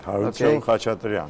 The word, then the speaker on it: Harutyun Khachatrian: Harutyun Khachatrian. I hope I pronounced the name yes, quite yeah, okay. That's right. Harutyun Khachatrian.